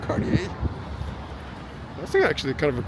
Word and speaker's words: Cartier: And Cartier, I think that's how you pronounce it, Cartier.